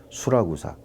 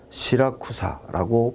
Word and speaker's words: 시라쿠사: 그 섬에 수라구사 항에 도착했다 그랬는데 그 다음 사진이 시칠리아의 수라구사, 지금은 시라쿠사라고 발음하는 그런 항입니다.